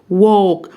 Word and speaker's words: walk: هنا حرف ال silent لا ينطق، يبقى walk.